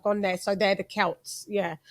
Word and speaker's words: Celts: So they're the Celts. Yeah. So we never pronounce it the Celts. I don't understand why you guys do, because it's C. Celt.